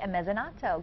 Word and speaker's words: Mezzanotte: He is the chef and owner of Cafe Mezzanotte. Good morning. Good morning. Did I pronounce that right?